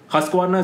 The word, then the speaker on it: Husqvarna: Okay, pronounce the name. Husqvarna?